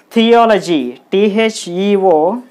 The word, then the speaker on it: theology: First, let's divide this word into syllables. So, T-H-E, the, O. So this single letter is a syllable. Okay. T yo L O L O G Y G. So totally there are four syllables. 1, 2, 3, 4 syllables.